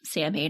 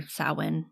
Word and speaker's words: Samhain: The festival of Samhain, or Samhain, I think is how it's actually pronounced.